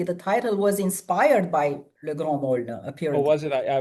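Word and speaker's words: Le Grand Meaulnes: um, Well, getting back to it, would you pronounce the name of the novel for me? Le so Grand the novel, yeah, it's Le Grand Maulne, which is hard to translate.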